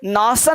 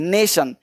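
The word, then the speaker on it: nation: अब देखो यहाँ पे नासन नहीं, नेशन।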